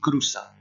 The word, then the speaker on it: cruza: Attention à la prononciation, on dit bien cruza.